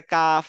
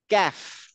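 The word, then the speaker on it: كاف: যেমন লিখি না কয় জফলা এরকম কয় আকারে কাফ হ না না ক্যাফ ক্যাফ আর এটা হচ্ছে কফ এটা হচ্ছে কফ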